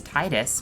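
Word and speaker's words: Tidus: this point forward be referred to as titus because that is how it is correctly pronounced and waka who are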